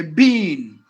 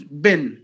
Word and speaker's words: been: being separately for example if somebody writes this word on the board how do you pronounce it you say Bean but if you put the same word in a sentence bin so you have to say like this I've been talking to you I've been listening oh